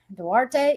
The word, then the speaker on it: Duarte: What's next for uh Date? Was how you pronounc his name? Dwarte.